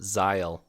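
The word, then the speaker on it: Zahel: that i i always think like my first thought was like kyle with a z but like there's no way that right that it would be spelt like that but um yeah they they pronounced him zile in the in the audiobook so but he seems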